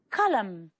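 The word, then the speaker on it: column: Colum. The final N is silent.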